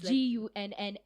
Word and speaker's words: Gunna: But first of all, she's not talking about like it's not spelled like Arsenal Ghana. It's Gunna.